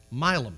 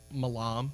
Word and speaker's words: Milam: My last name is 5 letters. It has been pronounced a dozen different ways. Milam, 5 letters. I understand Malam. I get it. Maybe you think I'm Italian.